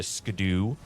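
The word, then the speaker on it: Scadu: where normally you would get all that uh scadoo from. Got to say it. Make sure I say it correctly. The scadoo. Yep. Absol absolutely the correct pronunciation.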